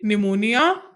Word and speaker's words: pneumonia: The next word will be pneumonia. In pneumonia, P is silent.